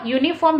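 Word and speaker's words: uniform: भूल जिंस ठीक है आमे प्रोनाउंसिएशन करबा यूनिफॉर्म यू यू यू रो होची य साउंड होची आपनकर व्यंजन साउंड बा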